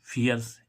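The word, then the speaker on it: fierce: करना इसमें देखें हम एफ आई ई आर सी फियर्स इसमें भी छोटी आ रहा फियर्स फियर्स मीस भयंकर तो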